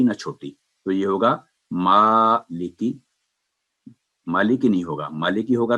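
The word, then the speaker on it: مٰلِكِ: تلفظ۔ آگے چلتے ہیں۔ یہ ہے میم پر کھڑی زبر ہے تو یہ آواز 2 سیکنڈ لمبی کر کے مالکی، مالکی، یعنی ماں کی آواز چھوٹی نہ ہو اور لی اور کی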